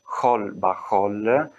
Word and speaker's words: Xol Baxol: Tanto che la stessa scritta Xol Baxol, che in realtà si pronuncia Khol Bahol, significa in Wolof, che